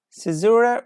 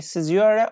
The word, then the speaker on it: caesura: Dilan Yildirim says, it says, Sizure, like Caesarea, Caesarea, Caesura, we say Caesura or Caesura, like British English Caesura and American English like Caesura, okay?